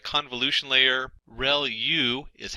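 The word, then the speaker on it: ReLU: Reu is how that is pronounced and that's the rectified linear unit that has to do with the activation function that's used.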